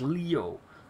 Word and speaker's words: Leo: ] is his name it's written with the kanji for lion to be sure but it's pronounced leo i wager you're impressed